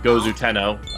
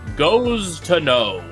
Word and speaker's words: Gozu Tenno: Worshipping a deity by the name of Gozu Tenno, who you may recognize from Nocturne. Except for some reason, the localizers decide that his name is pronounced Goes to Know.